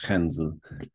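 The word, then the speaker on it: 汉字: So Japanese kanji, which in Mandarin are pronounced hanzi, come from Chinese.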